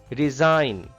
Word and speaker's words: resign: Resign. Resign. G is silent here.